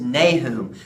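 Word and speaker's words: Nahum: the baby Jesus that's right and next is nay whom so we're going to college or no to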